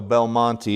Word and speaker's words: Belmonte: So, Belmonte is the correct pronunciation.